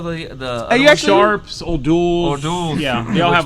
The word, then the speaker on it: O'Doul's: O'Doul's is O'Doul?